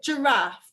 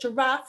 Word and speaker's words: giraffe: to sound it out because we can see that giraffe is spelled with a sound the letter g and if children were to write that sound they would spell it with a j a j so we're going to